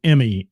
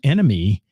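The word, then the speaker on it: ENMY: band here all right Emmy enemy I'm sorry why did I say Emmy see I screwed it up already e nmy pronounced Enemy enemy and uh Dave Nester man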